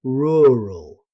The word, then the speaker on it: rural: This is one of the most difficult words in English because of the consecutive R sounds. Most British native speakers say rural. A useful tip is to practice it slowly. Roo rul rural.